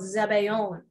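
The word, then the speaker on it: sabayon: so um super cool in french it's called zabaeon but in italian it's zabayone now i was married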